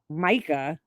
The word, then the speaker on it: Mica: Micah. I had a friend named Micah, but it was Italian. Mika. I'm sorry. There is no K in the Italian alphabet. Mica. Micah. Like the mica powder.